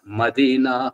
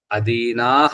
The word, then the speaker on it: అదీనాః: మదీనా వాళ్ళకి వెళ్తుంటది మళ్ళా సంధి ఉపాసనలో అదీనాః అన్నది అక్కడ మదీనాః అని చదువుతుంటారు అన్నమాట అది ఉచ్చారణ దోషం వల్ల ఆ రకంగా తప్పుడు అర్థం వస్తుంది ఆ తెలవక చెప్పండి అంటే